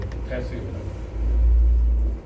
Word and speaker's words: 포타시움: 그래서 이거는 나트륨이라고 하지 않고 소듐이라고 발음하고 이걸 포타시움이라고. 나트륨, 칼륨은 독일식 발음이고.